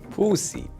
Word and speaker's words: Pusic: My name Pusic. That's how you pronounce it. Pusic.